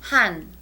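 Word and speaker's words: 한: have here right so the H sound plus the a sound plus the n Sound becomes han han and that's the third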